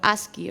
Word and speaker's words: ASCII: tabla que se llamaba as o aski o como queráis pronunciar vale esto era entonces en total con con as voy a llamarlo asi porque o sea sé que es lo correcto es asi pero me resulta muy